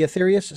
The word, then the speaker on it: Aetherius: was so intrigued by the aetherius if i'm pronouncing that correctly the aetherius society that's correct and the slogan first of